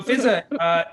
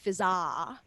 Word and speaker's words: Fizaa: There's 2 A's, but it's not pronounced Fizaa. It's just pronounced Fizza. One of the A's is silent.